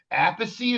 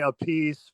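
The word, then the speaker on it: Appice: I love I got to send you my Apey is how you pronounce his last name. Well, that's how I pronounce it. Some people say a piece, but I Yeah, that is nuts, dude.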